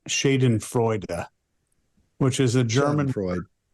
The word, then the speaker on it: Schadenfreude: They said it's Schadenfreude.